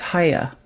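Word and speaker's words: Chaya: It's Haya. It's Haya? Yeah, it's an Orthodox Jewish name.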